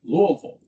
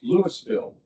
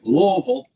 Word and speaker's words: Louisville: mother grew up in Kentucky and they always pronounced it Louisville. How do you guys pronounce it in Colorado?" He says, "It's Lewisville." I didn't want to make the mistake of saying Louisville.